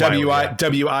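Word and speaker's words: Wily: Wiley. That's right. It's pronounced Wiley, right?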